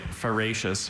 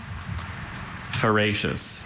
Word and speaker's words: feracious: Na decided to can some of the tomatoes from her extraordinarily fa feracious plants. May you please repeat the word feracious. May I please have any alternate pronunciations?